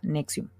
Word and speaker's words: NXIVM: En 1998 funda la organización NXIVM, que como pueden ver, pues son palabras, es una palabra un poco rara, pero se pronuncia NXIVM.